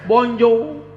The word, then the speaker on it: bonjour: Tulisannya bonjour. Bacanya bonjour. Tulisannya bonsoir, bacanya bonsoir.